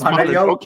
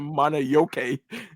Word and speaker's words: Mononoke: It's Mononoke. Mononoke. It's Mononoke. Mononoke. This dude says it's Mononoke, not Monoyoke.